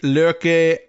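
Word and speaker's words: Løkke: my best uh I I was advised that was the pronunciation of L O K E in in Danish lur like with a little like in there. I don't know, probably not a hard R.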